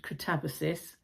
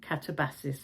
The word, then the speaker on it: Katabasis: Um, first of all, a note about the pronunciation. I asked Google and Google suggested catabosis. Uh, but then I heard Mary Beard talking about it and she pronounced it catabassis.